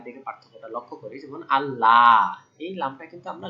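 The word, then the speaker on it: الله: কারণ কি এটা আল্লাহ শব্দের লাম না স্বাভাবিক এজন্য এটা লাল ওকে পাতলা আল্লাহ তাবুদু ইল্লাল্লাহ কিন্তু এইযে আল্লাহ শব্দের লাম এটা কিন্তু আমরা লাল এটা বলব ল মোটা এইযে পার্থক্য যে স্বাভাবিক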